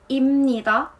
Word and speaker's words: 입니다: formally you get to finish your sentence with imnida here you have ending but it sounds like to make it easier to pronounce so like i said earlier i'd say